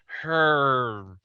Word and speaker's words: Herrmann: spelled, now seeing it, it looks like it should be pronounced like you're not sure what his last name is, like Bernard Herrmann. Because there's like 2 R's and 2 N's, like Herman. Yeah, like it's just Herman, dude.